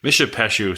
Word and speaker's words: Mishipeshu: So it's called Mishipeshu or Mishipeshu, however you want to say it. Mishipeshu sounds more like like the correct pronunciation.